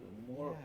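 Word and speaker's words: myrrh: called myrr even today m y r r h that's how you spell it the rash understands that huh more more EX make like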